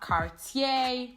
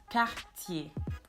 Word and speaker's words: Cartier: So it's not Cartier, but it's Cartier.